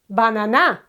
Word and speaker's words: banana: the penultimate syllable okay so this one here will be the accentuated one banana okay banana it's not banana and it's not banana it's banana why because in this case